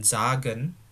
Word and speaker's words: sagen: Denken artinya memikirkan, dan sagen, ya bacanya bukan sagen, ingat S dibaca Z.